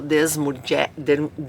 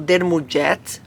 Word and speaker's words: Desmourget: eu, francês, o Michel Desmourget, assim, eu penso que é assim, né, que se pronuncia Desmourget, ou Dermourget, porque é francês, e ele traz nesse